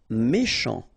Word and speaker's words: méchant: Méchant. Final T not pronounced. Then C-H, sh, chant, méchant.